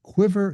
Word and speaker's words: Quivr: There is Quiver CRM, and Quiver is spelled Quivr.